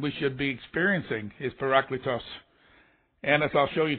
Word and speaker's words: parakletos: body of Christ greetings are you a par paracletos as it's pronounced are are you a paracletos I'll bet